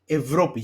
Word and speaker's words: Ευρώπη: Or you can say, for example, Ευρώπη, Europe. You see that after the ev, the diphthong, there is zero. Okay, so that means it's in the second category, that is pronounced as av ev.